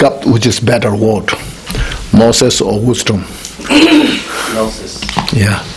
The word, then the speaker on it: gnosis: Then you pick up which is better word, gnosis or wisdom. Gnosis. Yeah. Am I saying it right? Gnosis? Yeah. Gnosis is better.